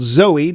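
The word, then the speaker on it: Zowie: And Duncan, whom David called Zoe to rhyme with Bowie, and that is his middle name, said the heck with that.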